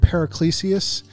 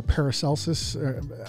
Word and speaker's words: Paracelsus: So we know about Paracelsus or Paracelsus. It just depends on how you want to pronounce his name.